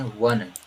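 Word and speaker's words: one: तो जब 1 रुपए का आप सिक्का पाए हैं तो इसको जब पढ़ें तो क्या पढ़ें, वन, वन मतलब वाह आ रहा है।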